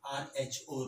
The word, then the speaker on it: rho: It is pronounced as RHO rho.